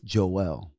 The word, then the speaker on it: Joel: and even even in even in the Bible when it says Joel the way it's pronounced it's Joelle is that why we